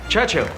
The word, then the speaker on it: Churchill: enjoying sir James's visit his church Churchill that's how you say it all together like that I'd heard church and Hill but couldn't find either